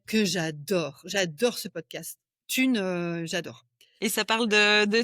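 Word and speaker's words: Thune: J'adore un podcast qui s'appelle Tune. Tune. OK. Ça s'écrit quoi ?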